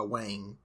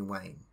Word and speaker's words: Wayne: they mess it up so i'll go by wayne and everybody calls me wayne do not ever do not ever call me dwayne ever he actually did it